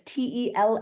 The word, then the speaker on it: Telaphiba: That's it's spelled regular camp. Then it's TELAPHIBA, and it is Telaphiba.